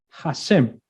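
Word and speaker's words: השם: ¿Cómo se pronuncia? Hashem.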